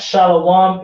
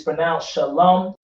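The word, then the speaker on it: שלום: confusion on shallow one all right it's not shallow one it's pronounced shalom that w is silent a lot of people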